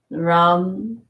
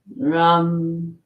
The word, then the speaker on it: Ram: And for educational purposes, the sound seeds of each chakra, Lam, Vam, Ram, Yam, Om, and then this is silent.